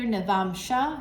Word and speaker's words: navamsa: navamsa chart okay so you'll hear navam Shah you're like why are you saying it wrong I'm not I just come from the space of South Indian traditions and that's how we say it the vamsa chart okay